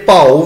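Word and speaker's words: ਭਾਉ: गुरबाणी विच आप जी नूं भउ भी मिलेगा ते भाउ भी मिलेगा। भब्बे नूं कन्ना भी लगा होएगा। संगत जी, जिथे भब्बे नूं कन्ना होवे उत्थे भाउ शब्द उच्चारण करांगे भाउ।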